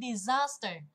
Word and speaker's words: disaster: Câu này khó đây vì mình thấy disaster, đúng không?